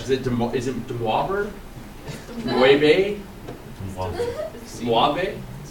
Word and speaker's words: Moivre: Moivre? Like suave? It's Moivre.